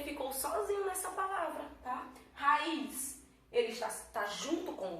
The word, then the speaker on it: raiz: Aqui nós temos a palavra raiz. Raiz, vamos separar ela, né? Raiz. Raiz. Raiz. A sílaba tônica dela, a segunda vogal, realmente, um I.